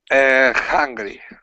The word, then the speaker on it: hungry: next one um okay hungry hungry just you're only going to let air Escape so put your tongue put your tongue down like this now huh H you are you are just breathing you are just breathing